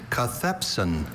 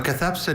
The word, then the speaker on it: cathepsin: your word is Cathepsin.